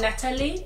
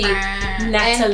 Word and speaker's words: Natalie: What I like about Natalie, that's how you say her name. If you didn't know, it's Natalie, not Natalie. Pronounce the T. Natalie.